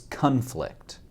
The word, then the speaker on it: conflict: ended with a divorce when used as a verb conflict has a slightly different pronunciation which is conflict when used as a